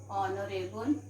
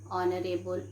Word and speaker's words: honorable: That children, some of the words they are beginning with H, but H here is silent. H here is silent. Okay, like what to say, children? An honor, our, an honorable man.